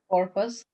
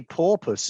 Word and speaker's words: purpose: Purpose. Purpose. You've got to be careful with that pronunciation. If you say porpoise, it's this.